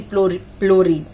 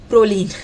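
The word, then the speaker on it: Prolene: so there is one distinct advantage of the chlorine Proline sorry for the uh mispronunciation so when swelling happens Proline will stretch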